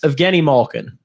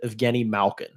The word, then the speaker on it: Evgeni Malkin: well that's what it is so technically yes Evgeni Malkin okay that's his name yeah it's that's how he pronounces his name still half the population pronounces it of Guinea Malkin and will pronounce it that way forever regardless